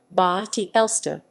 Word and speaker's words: Bad Elster: at elster vad elster german pronunciation ba ti elsta is a spa town